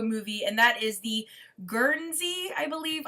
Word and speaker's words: Guernsey: And next up is one that was recently made into a movie, and that is the Guernsey, I believe. I never say it right. I always call it Gurney.